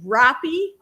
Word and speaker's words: Roppy: It's actually Roppy. It's like if you said Hoppy, but take the H off and put an R, and there you got it.